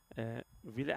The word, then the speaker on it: Villet: It is going to be Mesven Villet. How do you pronounce it? I'm saying Villet. What are you saying? It sounds like you're saying it with an F.